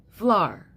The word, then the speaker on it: flour: Flour. Do you see where I'm going with this? It's one syllable. Applying the rule of phonics, it's one syllable because OU is a diphthong.